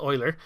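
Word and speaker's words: Euler: rotation will be equal to a quan do Oiler and what Oiler does it looks like it might be pronounced uler but it's actually pronounced Oiler and what this does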